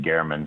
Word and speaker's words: German: Jeff German Jeff was um and and he pronounced it Gman so I'm going to pronounce it the way